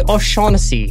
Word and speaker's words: O'Shaughnessy: I am joined by O'Shaughnessy. Thank you. Finally. Yeah, finally the actual proper Celtic pronunciation.